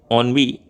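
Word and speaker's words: ennui: ऑनवी, ऑनवी के लिए अपने पास अपोजिट चूज करने के लिए 4 ऑप्शन दिए गए हैं: पॉवर्टी, शॉर्टेज, एक्साइटमेंट, फियरलेसनेस।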